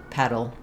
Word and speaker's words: pedal: petal petal and pedal so you probably noticed that all three of these words have the same pronunciation even though they have different meanings and different spellings that's because in the middle of words uh the letters T and D if they're followed by an unstressed syllable are pronounced as a flap sound and that can be